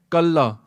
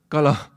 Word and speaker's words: Kala: So, sometimes in Bani we say Kalla. Because Kalla means by yourself, yeah? But if you don't know how to say the word, when it comes up Anand Sahib, you say Kalla instead of Kala. Like we say Chardi Kala. We don't say Chardi Kalla. It's Chardi Kala.